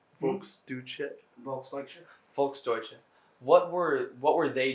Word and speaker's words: Volksdeutsche: INT2: And then in the ghetto, you mentioned-- how's it pronounced? Volksdeutsche? INT1: Volksdeutsche.